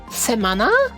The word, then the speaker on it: semana: is it wait what it's apparently pronounced semana semana is the the banner the banners interesting anyway uh okay one second let's say you say week in Portuguese ready I think it's